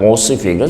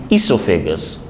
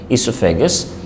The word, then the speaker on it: esophagus: esophagus remember this word it's not ossifical versus esophagus o is silent esophagus and then stomach and